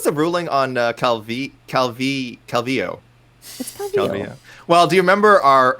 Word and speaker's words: Calvillo: she I think herself has said that is Calvillo that's how she pronounces it but he was adamant adamant it is cubby ho and that she was pronouncing her own name